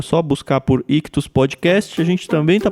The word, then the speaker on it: Ichthus: Lembrando que Ictus se escreve ICHTHUS. Nas principais plataformas de podcast é só buscar por Ictus Podcast.